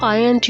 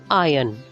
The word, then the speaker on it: iron: hum poem have you ironed your shirt yes this word is pronounced as iron not iron when it is used as a verb you should pronounce it as iron the r should be silent iron your clothes to